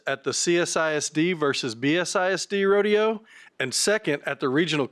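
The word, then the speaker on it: roadeo: And when I say rodeo, it's spelled R-O-A-D-E-O, rodeo.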